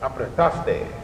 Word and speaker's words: Apretaste: I did pronounce that correct, right? Apretaste. Apretaste? Perfect. Apretaste.